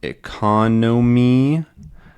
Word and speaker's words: economy: of describing it right we have economy economy economic and economical right so we have da and d da right we just get totally different stress patterns I like to think